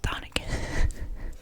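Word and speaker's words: chthonic: I know it's spelled kind of weird with a C, but I did do the audio book on both of these, even though I do own both copies.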